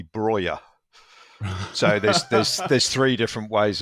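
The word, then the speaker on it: Broja: Well, if you listen to the Albanians going nuts on the commentary when he scores for them, if you go with the Albanian pronunciation, it seems to be Broyer.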